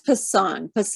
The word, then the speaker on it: Pasang: How do you pronounce this? Pasang? It's Pasang Lhamu Sherpa.